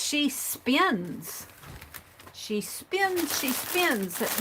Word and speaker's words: She Spins: And it's, I was pronouncing her name wrong. I was saying She Pins. And it's She Spins.